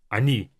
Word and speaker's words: они: But for these 3, the first O will sound as A, even though it's spelled as O. Она, оно, они. Because these O's are not stressed, we pronounce them as A, just to make it a bit easier for our mouth.